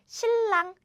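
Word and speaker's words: 신랑: So, this is pronounced as shillang. Shillang is easier to pronounce, right?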